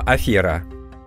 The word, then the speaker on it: афера: означает дурное дело неприятность по-французски произносится без йог поэтому и в русском языке слово афера и аферист правильно говорить через ген как правильно говорить развитая